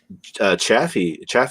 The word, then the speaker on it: Chafee: I mean, Chaffee, or I can't remember how to pronounce it. Chafee.